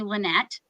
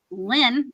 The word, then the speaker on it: Lynn: everybody here in Ontario tries to call me Lynette they think it's short for something I'm like it's Lyn Lyn they try to put an e all the time on the end in French it's ly no I know in French I know there's a e at the end Lyn yeah there's no E I actually I was